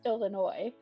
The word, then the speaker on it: Illinois: so out in this little state called Illinois, Yeah. there is a city called Cairo that is pronounced that's spelled Cairo, Mm-hmm.